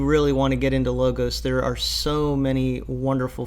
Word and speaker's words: Logos: mentioned in the comment Logos Bible Software the Greek word is law Goss but I think a lot of people usually pronounce the software logos so that's how I'm